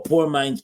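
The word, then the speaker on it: Pour Minds: mines uh podcast or poor Minds podcast poor Minds podcast poor po poor minds they spell it P o u r as in poor as in poor water oh poor Minds oh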